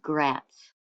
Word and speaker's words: Gratz: Chapter 2 of the Brooklyn Nine, a novel in 9 innings by Alan Gratz. His last name rhymes with rats.